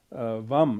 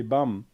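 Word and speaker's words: vaṃ: On top of this is a pure golden vam. It shouldn't be bam, and it is written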